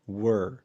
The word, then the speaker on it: were: طيب خد بالك هنا من نطق كلمة were اللي هي بعد you. بنقول you were. ما بننطقهاش where زي ما ناس كتير بتغلط، لأن where ده نطق أداة الاستفهام اللي معناها أين، أو نطق مثلا الفعل where اللي معناه يرتدي. فدي لكن دي نطقها were.